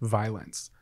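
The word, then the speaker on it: Vylanc: this girl commented, I saw a girl on TikTok whose name was V-Y-L-A-N-C, pronounced violence.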